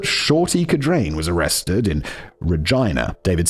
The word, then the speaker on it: Regina: Because the obvious pronunciation is Wait, Regina. Wait, is it Regina? It's Regina.